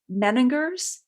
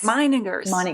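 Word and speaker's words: Meininger's: So now you were, tell me if I'm mispronouncing this, Meningers Wine Business International? Meiningers. Okay, there we go.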